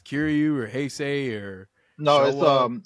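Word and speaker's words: Shōwa: I don't know if it's Kiryu or Heisei or No, Showa. it's Showa. Showa.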